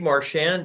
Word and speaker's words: Marchand: just introduce yourself sure my name is Marsh and and my twitter handles at Martian spell that out ma r CH a nd s